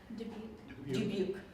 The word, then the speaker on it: Dubuque: Dubuque.